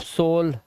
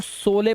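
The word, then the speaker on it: sole: अब पहले मैं भी सोचता था इसको सोले पढ़े, सोले, सोले, लेकिन फिर पता चला लास्ट का ई साइलेंट होता है, और दो कॉन्सोनेंट के बीच में ओ आया है, लास्ट में ई है, तो इसको ओ से पढ़ेंगे तो सोल हो गया ये।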